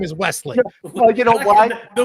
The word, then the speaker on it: Wesley: You got the last name right, but his first name is Wesley. You know why? The Weasley is kind of fun.